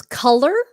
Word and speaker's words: color: You got to open your mouth.